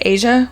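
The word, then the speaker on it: A'ja: Is it Asia Wilson? Mm-hmm. Why does it always sound wrong when I say it? Well, it just doesn't look like it's spelled like that. Well, Asia Wilson.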